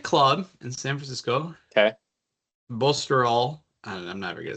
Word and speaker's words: Baltusrol: Bosterol. I'm never gonna say that. Congressional Kiowa Island, Southern Hills. It's so literally it's pronounced how it sounds. Baltusrol.